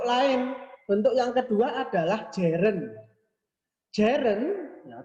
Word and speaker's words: gerund: Bentuk yang kedua adalah gerund. Gerund, ya, tulisannya gerun gitu ya. Bacanya gerund.